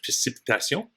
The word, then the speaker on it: précipitation: In French, précipitation, same word. It's just pronounced a little differently.